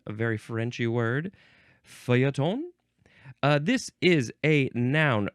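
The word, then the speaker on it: feuilleton: a very Frenchy word fon uh this is a noun oh other pronunciations are fotone Fatone or F Fon okay noun from 1845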